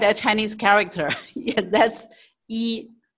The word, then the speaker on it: 一: 对, E. Can you write it? Use your hand. Okay. E. Now, E. Yeah, you can write a Chinese character. Yeah, that's E.